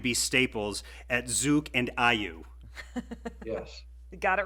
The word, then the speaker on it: AYU: So it's IU. IU, okay. AYU. AIU. But A is pronounced IU.